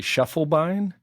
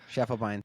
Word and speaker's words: Schiefelbein: You know, you got the attitudes correctly, but I say my last name I say Shufflebine. Shufflebine.